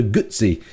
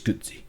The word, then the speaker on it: Guzzi: I think it's Guzzi. Guzzi, as in the Italian.